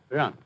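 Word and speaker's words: 仁: Although when we Romanize this word in English, we spell it J-E-N, it's pronounced Ren. Sort of like rolling an R, or rather saying R but not rolling it.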